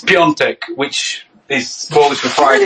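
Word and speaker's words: Piątek: His last name's like Pitek. It's Pitek last name. It's Piontek, which is Polish for Friday.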